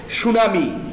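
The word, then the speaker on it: tsunami: আকর্ষণ আকর্ষণ ঠিক আছে সুনামি সুনামি T silent G সুনামি নট টু সুনামি ঠিক আছে সুনামি এখানে টি সাইলেন্ট আচ্ছা আমরা এই সুন্দরবনস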